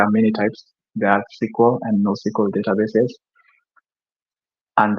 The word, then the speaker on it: SQL: month ago is sque there are people that pronounce this as squal so squal versus no